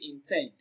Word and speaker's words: intend: Option C, intend. Intend is pronounced and broken down into syllables as intend.